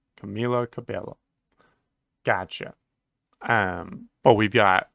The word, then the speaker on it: Camila Cabello: I don't want to just say whatever to pronouncing someone's name right okay Camila Cabello Camila Cabello gotcha um but we've got we've got Camilo